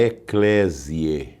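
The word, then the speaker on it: Eclesiae: A editora é a Eclésie, se escreve e C L E S I A E, editora Eclesi. Então, esse livro é o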